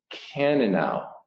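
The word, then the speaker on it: Cannonau: case uh red wine and this word is pronounced a cannanow and it's an italian wine this actually came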